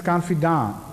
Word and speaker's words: confidant: I know French is confidant. It's not T at all. But in English it is confidant.